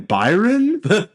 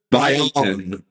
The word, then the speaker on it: Brion: Brian James, which by the way, his name is spelled Brion. So I keep on saying Byron. Brian.